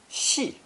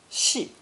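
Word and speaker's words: 系: pulling or lengthening movement the resulting combination is pronounced forethone she she it means to bring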